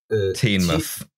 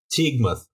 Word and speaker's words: Teignmouth: Teignmouth. Teignmouth. Okay, yeah, Teignmouth. Thank you for pronouncing that, so saving me some embarrassment there.